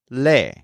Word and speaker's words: lee: So, I read is leo, and he or she reads is le, which simply sounds like le, but is spelled with 2 E's.